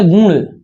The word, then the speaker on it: गुण: ये लिखा गया गुण, गुण, ये नासिक की ध्वनि है ना, गौर समझिएगा। गुण संधि, गुड़ ना कहिए, यानी आप गुड़ कहते